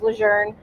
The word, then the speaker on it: Lejeune: true it is actually it is actually after a French family and their last name is pronounced Luzerne and so have four brothers